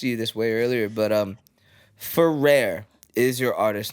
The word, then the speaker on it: Fuhhrare: off my last name, because where I'm from, like where my family's from, is pronounced Fuhhrare or Fuhhrare. So Okay. just having that distinction of, the way that it's pronounced here, even though it's not the correct way, it's still Goddamn kind of white stuck.